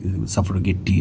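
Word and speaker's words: suffragette: বলা হয় মূলত হচ্ছে সাফারগেট মুভমেন্ট এটার উচ্চারণ ভিন্ন জায়গাতে ভিন্নভাবে সাফার গেটটি এরকম থাকতে পারে সেটা আমাদের এখন মুখ্য বিষয়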